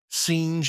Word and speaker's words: singe: in the same way he was taught to pronounce ape singe and tree AB he was a most eager